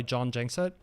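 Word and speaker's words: Jon Gjengset: around the world so i usually go by john jankset which is really just ignore the g's in the surname that works pretty well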